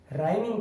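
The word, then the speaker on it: rhyme: तो रिदम और राइम में आर के बाद एच आया और हम यहाँ पर एच साइलेंट रखेंगे, यहाँ पर एच की आवाज नहीं आ रही है, तो ये रिदम और राइम।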